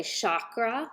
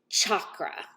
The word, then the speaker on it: chakra: Many people say chakra like shaka but the actual pronunciation is chakra like chocolate or cha cha cha.